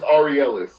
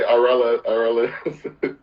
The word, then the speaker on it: Aurelyus: Say it's Aurelyus. You say Aurelyus.